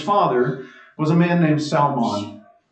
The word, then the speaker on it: Salmon: Boaz's father was a man named Salmon. It's spelled just like salmon. It is exactly what you think, okay?